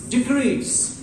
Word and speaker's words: decrease: We have the word here, decrease. Decrease. Not decrease. Decrease. As a noun. When it becomes the verb, it is as decrease.